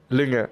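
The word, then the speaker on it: Lynge: Is that actually the correct way to pronounce Linge? Lünge.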